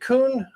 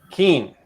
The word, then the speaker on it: Keen: Kevin, is it Kuhn or Kuhn? Or how do you pronounce the last name? Turn your microphone on. Keen. Drop the U, drop the H, add a E.